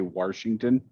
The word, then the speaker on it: Washington: you really just say washington yeah i'm from virginia that's how you pronounce there's no r in washington look tell me where